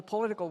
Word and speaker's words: political: So right for American speaker that first syllable is unstressed, right? But you hear how she's saying pole. That's that's given a lot of attention.